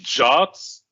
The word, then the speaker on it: JWT: the heavy lifting, and they return something called a JWT, and people pronounce it as a JOT, which is a JSON Web Token, really.